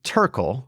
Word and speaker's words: Terkel: It was previously Tural, right? Am I pronouncing that right?